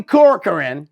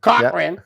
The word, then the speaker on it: Cochran: Johnny Corcoran, is that how you say it? Cochran. Yep.